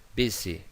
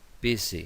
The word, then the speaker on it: busy: Busy, busy, como un zumbido. Busy. S entre dos vocales.